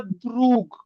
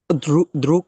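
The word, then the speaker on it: друг: তো এটার কিছু হয়ে কিছু, যায়, জি, দ্রুক কি ক হয়ে যায়, লাস্টে ক কে হয়ে হয়ে যায়। যায়, হ্যাঁ উচ্চারণ হবে কে, দ্রুক। এটা দ্রুগ হবে না, কে উচ্চারণ হবে দ্রুক, দ্রুক।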